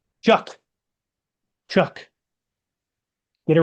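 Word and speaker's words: Tyler Shough: Is it Is it Tyler Shuge? Chuck. Chuck. Get it right. There's no C in his name, so I'm gonna keep pronouncing it Suge.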